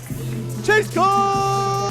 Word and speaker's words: Chase Cole: He said it wrong. It's Chase Cole!